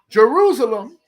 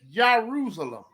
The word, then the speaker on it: Jerusalem: name is at so if you replace the J with a y you have Jerusalem it actually is pronounced or should be pronounced Jerusalem the City Jerusalem should